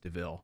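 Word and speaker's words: de Vil: all know as cruella deville um it's it's spelled devil but pronounced deville that's it's clever so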